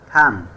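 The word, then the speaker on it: thumb: টি এইচ ইউ এম বি থাম। এখানেও এম এর পর বি লেটারডি সাইলেন্ট থাকবে।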